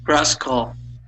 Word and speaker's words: rascal: Rascal. Okay. Yeah. So, instead of pronouncing that as an all, okay, it would be rascal.